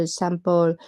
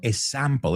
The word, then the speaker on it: example: Es un error muy, muy común. Hay que meter una K ahí, sonido de K. No digo una K de verdad, porque se escribe EX, ¿no? Example, not example. Nuria, no eres la única.